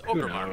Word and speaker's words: Orgrimmar: Of course I can pronounce it correctly. He just chooses not to. What's it? Orgrimmar? It's Ogremar, man.